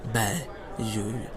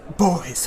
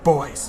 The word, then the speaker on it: Beuys: So, without further ado, let's look at the work of Joseph Beyonce. It's pronounced Beuys, honey. Beuys.